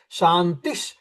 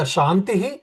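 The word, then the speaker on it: शान्तिः: If you chant just shanti shanti shanti that means it is a wrong pronunciation. There is no shanti either shantihi shantihi shantihi or shantish shantish shanti because when you visara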